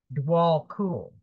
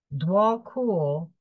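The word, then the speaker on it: Djwhal Khul: this is a very beautiful card this is pronounced dwall cool dwall cool is a Divine this is the Divine Mission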